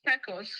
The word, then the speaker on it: Pecos: It's spelled Pecos. La, go ahead. 233. North No. Oh, it's Pecos. Pecos, yes.